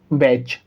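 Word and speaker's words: watch: अगर आप ध्यान से यहाँ देखेंगे तो यहाँ TCH है और यहाँ भी TCH है, तो इस कंडीशन के अंदर भी टी साइलेंट होगा। ठीक है, तो हम इसको क्या पढ़ेंगे? कैच, वैच।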